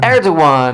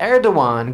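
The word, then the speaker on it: Erdoğan: Turk The Turk erdan erdogan there's a g in there leave it to the Turks to put a g in there erdogan goes and says that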